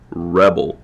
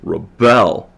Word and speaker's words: rebel: um prosodic change right Rebel right stress on the first word that's the noun form Rebel that's the verb form so the stress is on the second syllable with Rebel with the verb form